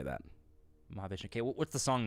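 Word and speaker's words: Mahavishnu: And Debbie Downer says, "Maha Vishnu is how you say that." Mah Vishnu.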